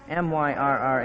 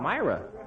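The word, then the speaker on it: myrrh: a mistake a little one how do you pronounce m y r r h m y r r h Myra that's what you say in the pageant too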